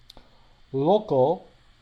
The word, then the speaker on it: local: Local follows a bit the roots of the Latin alphabet, lo, but the A and the L, the A merges its sound with the L to sound almost like an O.